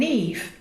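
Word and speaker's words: Niamh: felt as complete an eve which is spelt something like ni mm n I am H or ni ma H he looks like Nima you're like it's me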